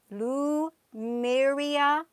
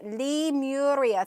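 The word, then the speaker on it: Lemuria: the same way with the lou myria or li muria i didn't pronounce it right and somebody corrected me on here these these ancient civilizations you are yeah paradise california that's exactly right with the um the tall people yeah li muria thank you alicia because uh sometimes i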